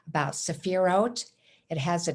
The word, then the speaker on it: sephirot: a little pronunciation about sephirot it has a t sound where the t and h are this is similar to the feminine name of esther the h is not pronounced with th the kabbalistic view of